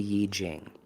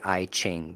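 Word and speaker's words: I Ching: The 64 hexog system that comes from China, from Daoism, the Yiji Jing, people say IQing because it's spelled I C H I N G, but it's Yi Jing.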